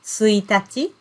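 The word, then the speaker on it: 一日: day of the month in that case we pronounce this kanji word as suitaci and the same kanji word if you use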